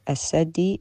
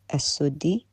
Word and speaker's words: السدي: السدي Is not as-saddi, it's as-suddi, which tells me the ignorance here, because if he knew...